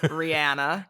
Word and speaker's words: Rihanna: Rihanna. That's how she pronounces her name. I know. Rihanna. It's always so weird though, because I'm so used to everyone saying Rihanna, and I know it's wrong.